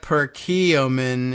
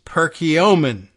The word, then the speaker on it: Perkiomen: decided that's not it it's not Perkiomen it's Perkiomen okay well there you are